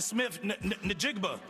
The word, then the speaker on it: Smith-Njigba: so I guess on his behalf, uh Jackson Smith-Njigba. Nick-Nickigba. Nickigba. Nji-Njigba. Njigba. J-JSN. The meaning behind your full name, Jackson Smith-Njigba.